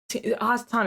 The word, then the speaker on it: hasatan: him on team hassatan hassatan is Satan by the way if you're wondering why I'm saying because that's how you say it in Hebrew but he's Gathering up